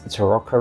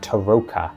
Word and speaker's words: tarokka: and an overview of Curse of Strad's famous Teroka reading or recently I found out it should actually be pronounced Taroka and I discovered this through listening to the Istrad audio book.